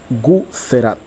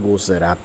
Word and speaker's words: Guzerat: es de la raza guzerat al menos buscando en internet se escribe con z Por eso digo guzerat o como decimos nosotros guser Así es que ahí